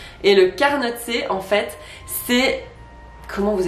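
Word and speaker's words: carnotzet: Déjà, faut le prononcer correctement. Un carnotse. Ou alors, si vous êtes valaisan et que vous êtes en fin de soirée, vous avez la flemme, vous pouvez abréger et dire un carnot.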